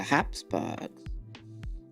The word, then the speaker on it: Habsburgs: Specifically, the Habsburgs. So yes, that's very important for the future. That is the right pronunciation.